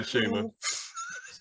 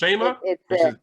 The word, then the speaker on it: Shayma: Go ahead, Shayma.